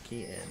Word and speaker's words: Keen: It's pronounced Keen, not Kane apparently.